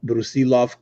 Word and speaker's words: Brusilov: By the way, Chris, I want to give you kudos for pronouncing Brusilov correctly. Oh. That most people don't put the accent there in the middle.